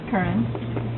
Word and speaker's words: Curran: Like a current. Yeah, almost like carrot. Minus T.